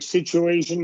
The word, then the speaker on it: situation: short or long long like situation is long long triumphant is long short doesn't matter there's going to be a y or a w between the two vowels so situation would